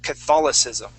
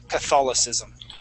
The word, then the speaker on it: Catholicism: of that line okay the word is Catholicism Catholicism okay Catholicism so that c is going to act like another s Catholicism Catholicism excellent nice job